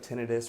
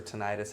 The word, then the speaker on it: tinnitus: That's what tinnitus or tinnitus, however you want to pronounce it, is.